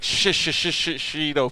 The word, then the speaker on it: shishito: asked for shishito peppers it's like shishito peppers like that's how you say it so yeah make